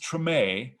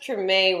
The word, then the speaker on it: Treme: this hbo series and i think it's it's uh pronounced treme yeah uh i had to